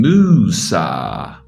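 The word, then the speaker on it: Μοῦσα: I am not saying Musa, or I am not saying Mosa. I am saying Musa.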